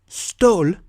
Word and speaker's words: stål: This one is naturally pronounced like the A hat sound, but sometimes it's pronounced like the high O. Here are the two final examples. Stål, which means steel, and hånd, which means hand.